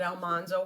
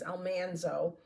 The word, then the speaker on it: Almanzo: I have always said Almanzo Wilder. It was Almanzo.